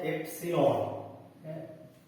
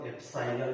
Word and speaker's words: epsilon: ठीक है, इसको पढ़ते हैं एप्सिलॉन, एप्सिलॉन, एप्सिलॉन, कुछ लोग इसको एप्साइलन भी बोलते हैं, दोनों ही उच्चारण सही है।